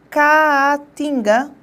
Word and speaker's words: Caatinga: Caatinga, tá bom? E caótico. Presta bem atenção. As duas palavras aí empregadas apresentam o mesmo tipo de encontro, que é o hiato.